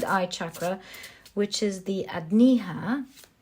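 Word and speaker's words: Ajna: throat sorry third eye chakra which is the adniha adniha sorry that's how it's pronounced correct correctly the adniha you have the four of cups and the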